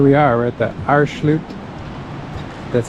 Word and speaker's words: Aareschlucht: So here we are, we're at the Aareschlucht. That's how you pronounce it.